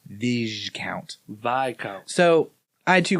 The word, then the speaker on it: viscount: I've never come across a word that if the S is at the end of a word, most of the time you don't pronounce it. Right. Well, Viscount is apparently one of those.